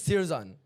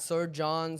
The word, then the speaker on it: Sirjan: My mom, the original way to pronounce it is Sirjan. Sirjan. Sirjan. It means the creator of the universe. In But it's like Sanskrit. spelled the same way, the way she says it, and the way Yeah. the American is just pronounced differently. Like in school, I got